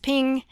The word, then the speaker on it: PNG: In other words, a square, small-sized picture like a JPEG or a .png, pronounced ping, image.